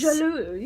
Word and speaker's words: La Jolie: This is by La Jolie, I think is how you say it. La Jolie Muse. Jolie, yes. French. Yes, ooh la la.